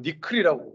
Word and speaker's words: NCCL: NCCL이라는 게 있는데, 예, 저도 이건 니클이라고 읽더라고요.